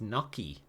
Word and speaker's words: gnocchi: It's pronounced gnocchi. Very weird. How's it spelt? Because I thought, yeah, double C-H-I. You see, I suppose in Italian I think the double C is a ch sound, but when you stick